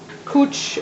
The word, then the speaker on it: couch: And and then you have your cooch or your it's spelled couch but it said cooch sheets is what he how he um pronounces it.